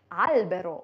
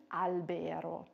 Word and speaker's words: albero: Deswegen sagt man Baum, albero und nicht albero.